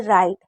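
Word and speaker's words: write: जैसे डब्ल्यू आर है तो हम सिर्फ आर को पढ़ रहे हैं। यानी कि राइट रॉन्ग यहां पर भी डब्ल्यू को नहीं पढ़ रहे हैं।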